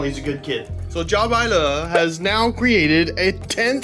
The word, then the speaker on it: Jiabaile: This is pronounced Jer. That's it. Simple. Thanks, Steven. You're the best. Check out his channel. He's a good kid. So, Jaw has now created a 10th scale series of cars.